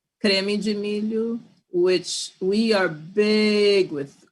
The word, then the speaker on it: creme de milho: How do you say it in your language, in Portuguese? We call creme de milho.